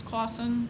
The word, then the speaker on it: Clausen: The county has hired Eric Clausen. It's pronounced like the pickles Clausen.